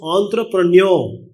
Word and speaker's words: entrepreneur: Please remember, it's not entrepreneurs, it's entrepreneur. R is not pronounced, last R.